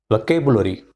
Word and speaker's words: vocabulary: K is stress here. Vocabulary. Vocabulary. Vocabulary. 4-syllable word. I stress on the second syllable K. Vocabulary. Vocabulary. Right? And many of us pronounce as vocabulary. So this is the difference between native speakers and our pronunciation.